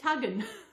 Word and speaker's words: Tugun: How they pronounce Coogin was Cudgeon, and Tugun is Tuggin.